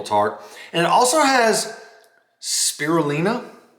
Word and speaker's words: spirulina: And it also has spirulina, I believe that's the correct pronunciation, which is an algae,